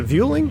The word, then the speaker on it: Vueling: the house it was the pronunciation is a Vueling routing engine is pure